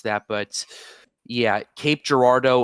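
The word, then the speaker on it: Cape Girardeau: uh City in St in Missouri that's that's Cape Gerardo by the way uh that's how it's pronounced uh it's we I'm from St Louis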